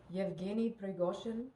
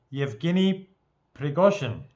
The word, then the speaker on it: Yevgeny Prigozhin: because she understands some Russian and she can pronounce some of the words. How do you say it? Yevgeny Prigozhin. Yevgeny Prigozhin.